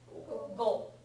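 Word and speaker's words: 五: the number five and five is pronounced go right the pronunciation is go anyone know a word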